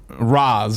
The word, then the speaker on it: Ra's: Wasn't it Ra's? No, they made a joke about it where they pronounce it Raj and then Talia corrects them at one point.